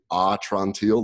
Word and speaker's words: Atrantil: So the name is a little difficult to say, and there's a whole story behind that, but it's actually Atrantil, like, my belly's better.